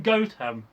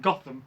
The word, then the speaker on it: Gotham: Was she from Gotham? I'm actually pronouncing that right now. Gotham. Before I would have said Gotham. No, Gotham.